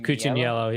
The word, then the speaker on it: Cucciniello: Cucciniello? Cucciniello, yeah.